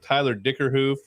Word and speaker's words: Dickerhoof: Welcome to another 511 production, Mike and Tom show, Lunchbreak Special with Tyler Dickerhoof. Did I pronounce that right, Tyler? You nailed it.